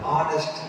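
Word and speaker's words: honest: ஹானஸ்ட் ஆனஸ்ட், அது silent H.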